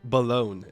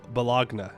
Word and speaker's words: Bologna: Every time you say balone, you should pronounce it differently. It's pronounced bal balagna.